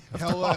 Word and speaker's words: Hila: We finally know how to pronounce her name. Hella, we'll still screw it up.